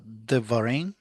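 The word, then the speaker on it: דברים: the first one is pronounced Devarim.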